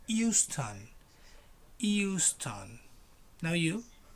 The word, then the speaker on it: Euston: It doesn't have an H. It's Euston.